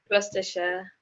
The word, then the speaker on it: Gloucestershire: That's how to tell me, how do you pronounce it? Gloucestershire.